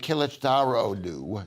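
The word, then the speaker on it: Kılıçdaroğlu: against this guy named kilichdarodu darlue and the reason why it's called derulu is because the g is silent in this book in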